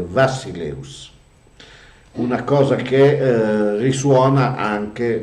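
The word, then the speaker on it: βασιλεύς: Noi pronunciamo la B, la beta, noi a causa di una fake news del 1600, pronunciamo la B, quella che è la beta, in greco la pronunciamo come una B latina, ma i greci la pronunciano come una V, quindi è Vassileus, una cosa che risuona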